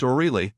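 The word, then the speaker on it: Oreille: Oliver Higgins The Honorable Mrs patrique oil pronounced Orel Miss Bridget pronounced Bree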